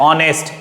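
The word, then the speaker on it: honest: यह पढ़ते हैं कि यद्यपि एच से स्टार्ट है लेकिन आप इसको जो प्रोनाउंस करेंगे तो ओ से आता है ऑनेस्ट एच साइलेंट है तो हम लोग इसमें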